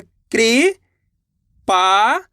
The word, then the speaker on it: कृपाण: का में ऋ की मात्रा है कृ पाण तो मिलके बन जाएगा कृपाण कैसे पढ़ेंगे कृपाण का